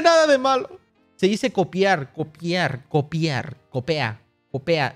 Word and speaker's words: copia: spamear la palabra copea no se dice así se dice copia copia esto copia aquello no es copea la neta no no